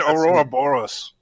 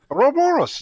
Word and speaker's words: Ouroboros: No, I just call that Aurora Boros. What? Ouroboros, the snake that eats itself.